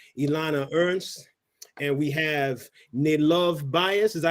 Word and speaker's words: Nilov's Bias: It's Nilov's Bias. Northeast Loves Bias. Nilov Bias. Yes. Any loves, so like Northeast, right?